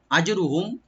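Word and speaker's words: أجرهم: আজরুহুম, হামজাকে right দিবেন, জিমে একটু কলকলা করতে হবে, একটু হালকা আমরা ইকু করব।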